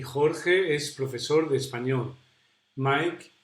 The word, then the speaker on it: Jorge: So Sarah was saying that it was difficult to pronounce the J sound, like the one in my name, Jorge. And it's true. It's quite similar to the sounds in Arabic languages, because we pronounce that sound down here.